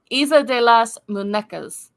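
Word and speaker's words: Isla de las Muñecas: say it, well, I'm going to say it's pronounced Isla de las Munesca. It I probably screwed that up, didn't I? is the Isla de las Munecas.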